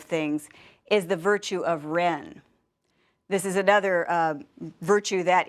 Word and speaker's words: ren: is the virtue of ren this is another virtue that is spelled differently in the two common systems of transliteration it's spelled r-e-n um or j-e-n but pronounced ren and this term basically